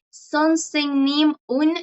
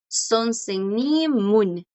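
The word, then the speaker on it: 선생님은: haciendo una pausa aquí como dividiendo, pero la forma más natural de hablar en coreano, chicos, es que la palabra, el sujeto continúe la pronunciación con la partícula de sujeto. El sujeto continúa la pronunciación con su partícula porque es su partícula. Entonces, lo más común es que los coreanos pronuncien esto. Son senimun.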